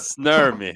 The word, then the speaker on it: Snurmi: Well, Snurmy, yes, but Snurmi.